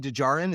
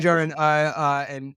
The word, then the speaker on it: Djarin: the secondary second day I think the second D is silent. It's like Django. it's like Django. Yeah. Yeah, Din Dinja. Djarin and Grogu, it's like